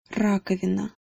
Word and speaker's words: раковина: As far as pronouncing this word goes, just make sure that you get the trilled R, ra, at the beginning instead of ra. If you pronounced it ra, it wouldn't be the end of the world. People would still understand you, but the ra is definitely more native sounding.